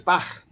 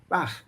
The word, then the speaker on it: Bach: But in German, it's softer. It's Bach, Bach.